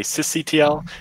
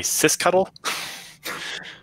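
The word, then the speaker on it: sysctl: conferences is there's the people like me that say sis CTL and then there's some people say sis cuddle or you know ioctl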